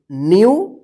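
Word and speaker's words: new: है तो इस ई और डब्ल्यू का यू उच्चारण होगा, ठीक है। देखिए यहां पे जैसे फ्यू, एन ई डब्ल्यू, न्यू।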